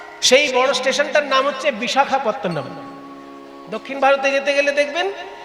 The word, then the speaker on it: বিশাখাপত্তনম: যেযে বড় স্টেশনটা নামতে হয় সেই বড় স্টেশনটার নাম হচ্ছে বিশাখাপত্তনম।